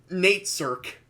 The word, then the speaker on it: Nate Cirque: Is that how we're gonna pronounce it? That's how we're gonna pronounce it because that's how the audiobooks pronounce it, and that's how Corrupted Gaming pronounces it.